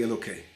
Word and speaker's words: Elokei: I'm not saying the word Hey, because we don't pronounce that unless we're praying, so that's why I'm saying Elokei.